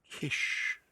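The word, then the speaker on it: cis: Kish, C-I-S. Pronounced kish or kishon.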